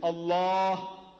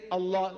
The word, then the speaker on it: Allah: l a h is Allah not say say Allah all of you say Allah Allah see not Al but you can write a l h but don't say Al say Allah Allah so she L